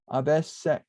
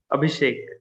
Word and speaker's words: Abhishek: Abhishek. Abhishek. Abhishek. Okay, so there's like a sh sound in there.